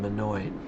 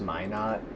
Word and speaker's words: Minot: just kind of cap the situation there in manoy it's actually pronounced my not my not okay so just wow Freddy actually